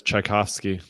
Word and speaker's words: Tchaikovsky: Andrew, by the way you pronounce that is Tchaikovsky. Is it kind of like the composer?